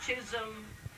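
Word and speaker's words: Chisholm: Well, it's a it's you know the the Chisom Trail was well that's not even spelled like that but it's a wild you know I S O L M right c h I S O L M.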